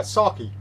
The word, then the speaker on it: sake: uh and alex uh saki i that's how you pronounce sake in japan are we gonna have